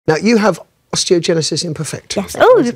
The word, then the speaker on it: osteogenesis imperfecta: Now, you have osteogenesis imperfecta. Yes. Oh, you pronounced it right.